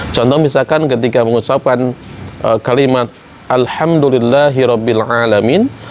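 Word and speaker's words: الحمد لله رب العالمين: Contoh misalkan ketika mengucapkan kalimat Alhamdulillahi Rabbil Alamin, harusnya dengan ha, ujungnya dengan ain, tapi ketika makhrajnya tidak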